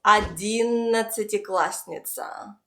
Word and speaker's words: одиннадцатиклассница: Now let's try to pronounce it all together. Repeat after me. Неудовлетворительно. Неудовлетворительно. Неудовлетворительно. The next word is одиннадцатиклассница.